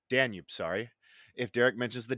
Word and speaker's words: Danube: And rule two is going to be if Derek mentions Danube, is that how pronounced? Danube. Danube, sorry.